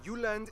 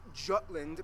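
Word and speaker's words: Jylland: Denmark is made of the uhland not Jutland Peninsula that connects to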